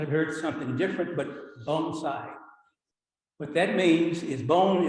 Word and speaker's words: bonsai: those just starting out it's pronounced bone side phonetically bone the next word is side you might have heard something different but bonsai what that means is